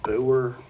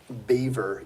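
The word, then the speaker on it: Biewer: we thought you pronounced it Boer, but it's Beaver Yorkie.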